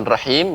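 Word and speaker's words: رحيم: Bismillahirrohmanirrohim Ya Rohim bapak pengucapan rahim lebih tipis lagi ya pengucapannya roh Kim Bismillahir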